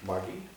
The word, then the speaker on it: Margie: Well, it's a hard G. What? It's a hard G. Margie, sorry. Margie.